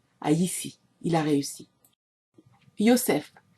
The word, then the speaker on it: Yosef: Yosef, prononciation gala de ce nom, car le J n'existe pas dans cette langue, vendu par ses frères